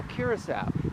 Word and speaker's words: Curaçao: So, I'm in Curacas, one of the ABC islands. Say what? Yeah. Curasaw. Now, the other A and the B, they got something in rhyme with the sea.